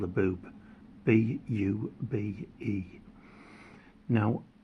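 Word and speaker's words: Bube: So a Jack in a German pack of cards is called a boob. B-U-B-E. Now it's pronounced Bobby.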